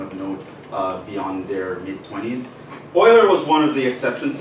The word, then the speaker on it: Euler: It's not Euler, it's Euler, okay? So it's pronounced oil, because it's Swiss.